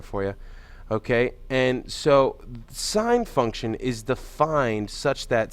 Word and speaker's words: sine: Now, it's pronounced sine, S-I-N-E. If you look on your calculator, if you have one of these calculators, it'll be abbreviated as just S-I-N.